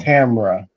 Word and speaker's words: Tamra: You better tell them how to pronounce it. It's Tamara. Hey, people make mistakes, ma'am. Sorry about that. We moving on. Tamra. Oh, Tamra.